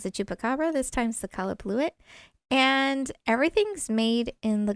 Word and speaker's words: Qallupilluit: There's a couple different varying ways you can pronounce it. But the one that I'm referring to is Qallupilluit.